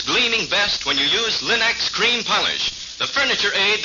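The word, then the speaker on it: Linx: Your fine furniture, for example, always looks its gleaming best when you use Linux cream polish, the furniture aid that gives a handsome luster in half the time.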